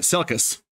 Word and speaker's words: Selkis: And Ryan, I'm going to pronounce his name right, Selkis, is the leader of this Messari team.